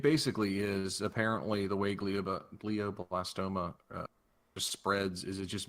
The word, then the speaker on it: glioblastoma: It's glioblastoma.